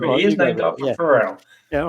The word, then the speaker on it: Pharrell: It is Pharrell, as in happy singer Pharrell.